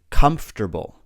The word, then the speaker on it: comfortable: Both of these words just have 3 syllables. We say comfortable, comfortable, comfortable, and vegetable, vegetable.